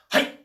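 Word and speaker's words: はい: all to be saying hey so that just means yes in japanese it means i understand spelt h a i and it's pronounced not hi everything you say in japanese is short and sharp um that's not because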